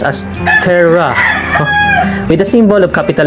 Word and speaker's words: tera: let's start first with tera tera is is pronounced as terra with the symbol of capital letter t an